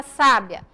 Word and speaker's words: sábia: sílaba tônica na palavra sábia na primeira sílaba onde vem a sílaba tônica na palavra sabiá na última o som dela é